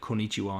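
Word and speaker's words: こんにちは: will and especially like konichiwa and stuff they'll use the wah even though it is pronounced wah but it's it's the ha symbol so uh that's a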